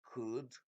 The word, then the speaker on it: could: Be informed that we don't say could, because many people pronounce this R and it's a silent letter here. It's just could, may, might, must, shall, should, will, would.